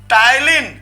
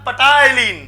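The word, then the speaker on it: ptyalin: टाइलिन आप समझ सके मजाक मजाक में, इसलिए टाइलिन, पी साइलेंट है ना, अगर पी को जोड़ने लिखा पटाइलिन, क्या पटाइलिन, तो पी को साइलेंट है, जनरली इसको टाइलिन कहा जाता है।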